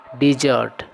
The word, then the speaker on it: desert: है उसको डिजर्ट, और मरुस्थल के लिए जो वर्ड होता है उसी वर्ड का जब हम लोग वर्ब के रूप में प्रयोग करते हैं तो उसका उच्चारण भी डिजर्ट होता है और उसका अर्थ होता है छोड़ देना।